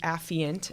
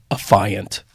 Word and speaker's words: affiant: who authored the complaint frequently mispronounced by prosecutors as a fiant what is that like